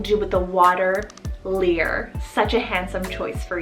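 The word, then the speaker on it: Lír: maybe gods we have the irish god name lear spell l i r and the i has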